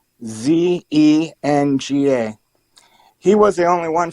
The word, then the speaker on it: Huizenga: And one Republican from Michigan, Bill Huizenga, I think, I'm not good with the pronunciation of his name. It's Huizenga.